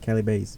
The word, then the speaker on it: Calibaset: b a s e t that's how you pronounce it cell Bas b a s e t yeah I thought